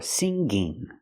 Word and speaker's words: singing: I cannot say singer or singing. I cannot pronounce the ng with a g sound. It makes a different sound. It makes a sound in your nose. Singer and singing. But do we always pronounce it like that? No, we don't. Sometimes the ng makes a g sound. But not with singer or singing. With these words, we make the nasal sound. No g.